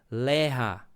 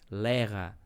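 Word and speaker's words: לאה: Porque no hebraico o nome, né, de dessa filha mais velha de Labão, ela se se pronuncia lerra, né? Então é é essa pronúncia lerra, né? Então esse essa é a forma que se fala, né?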